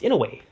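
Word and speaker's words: Inouye: But if you read exactly how it says to pronounce it phonetically, it's Inaway because there's a there's a strange Japanese twang in that just there's no way to quite capture.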